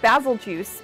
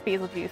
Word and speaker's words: Bazelgeuse: know I'm gonna say basil juice because it's named after the star Betelgeuse and that's how it's